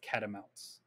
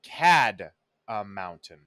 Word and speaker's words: catamount: But you're not pronouncing it like catamount. Cat of mountain. You're pronouncing it like cad a mountain.